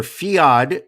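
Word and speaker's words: Fiadh: i'm not going to the girl names are fiod f-i-a-d-h ada aydah cow hee c-a-o-i-m-h-e cow number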